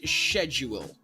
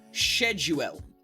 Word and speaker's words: schedule: It's actually supposed to be pronounced schedule. Shedued.